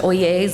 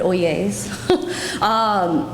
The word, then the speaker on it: Oyezz: oh yeas Real Estate's pronounced oh yeas like oh yes but oh yeas I should turn the